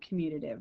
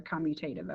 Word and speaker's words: commutative: But what this proves is that matrix multiplication is not commutative or commutative. I've heard it pronounced both ways.